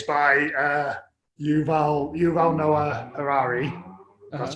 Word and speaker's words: Yuval Noah Harari: remember properly is um it's by uh yuval yuval noah harari that's how you say his name who wrote